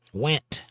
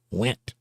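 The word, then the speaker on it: Wendt: Went. The N is silent or the D is silent. Went.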